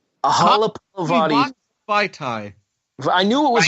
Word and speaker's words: Vaitai: Vaitai. I knew it was Vaitai. Yes. And then his Wisniewski partner on the left side isn't exactly easy to pronounce either.